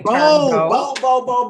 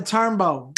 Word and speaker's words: Turnbow: Am I saying the last name wrong? Bow. B-O-W. Bow. Bow? Bow. Turnbow. Bow. Okay. Turnbow.